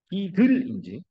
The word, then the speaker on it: GIDL: 뭐 학회에 가보면 GIDL이라고 발음하시는 분도 있고 기들이라고 하기도 합니다. 딥을하고 발음이 비슷하죠. 잘 들어요. 딥을인지 기들인지 다릅니다. 발음이 정확하게 하세요.